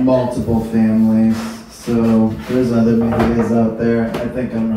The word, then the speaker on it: Mejia: I am Mejia, which children growing up reminded me rhymes with Aquia.